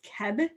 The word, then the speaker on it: Cib: Okay, so it's CIB, but the pronunciation is Keb, like K-E-E-B.